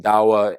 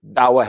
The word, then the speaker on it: Da'wa: Dawah is the term, or maybe daqwa, sometimes it's pronounced daqwa in Indonesia or daqwa in parts of Africa.